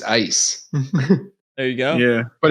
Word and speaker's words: Eis: That's another point for Germany then, because ice in German is just ice.